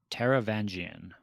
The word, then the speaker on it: Taravangian: in this one but i'm moderately confident i i'm saying taravangian caravandian great well done that's how i would say sweet and for spelling